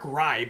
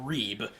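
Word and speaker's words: Reibe: Getting Terrace Reed back will be huge to, you know, kind of be the Adama Soogo to Eric Rybe, which apparently it is Rybe and not Reeb as I I've heard it pronounced I heard it pronounced two different ways during the McDonald's All-American game.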